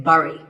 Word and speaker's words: bury: I used to say bury. I mean, it looks like that, right? But this word sounds just like the berry in strawberry. So once again, bury.